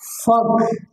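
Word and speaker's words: folk: কে এন ওটি নট ফক এফ ও এল কেই ফাক ফাক এফটা এখানে এলটা সাইলেন্ট আছে আরেকটা বিষয় যে আরেকটা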